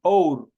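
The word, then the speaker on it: hour: muchas de las veces la consonante H es un claro ejemplo si es muda se debe anteponer la forma an por ejemplo an or la H no tiene sonido y se va directamente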